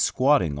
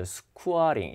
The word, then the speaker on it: squatting: She is squatting on the ground. 지금 이제 이렇게 웅크리고 앉아 있는 거예요. 그래서 지금 땅에 이렇게 웅크리고 앉아 있는 거 맞죠? 근데 발음이 이렇게 들리죠. squatting 이렇게 들리죠, 발음이.